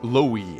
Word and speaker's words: Louis: they released on the armor knight Lois or Louis as many people have said it's pronounced the profile reads that